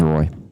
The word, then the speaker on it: Roy: That's how you say it, right? Derek Roy? Yes, he's not Waugh. He's Roy.